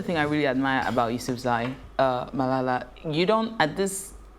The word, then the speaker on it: Yousafzai: How do I pronounce her surname? Yousafzai.